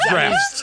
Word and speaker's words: draughts: And it's pronounced what? Noun, British. Drafts. He's right. Face. Yep, he's right.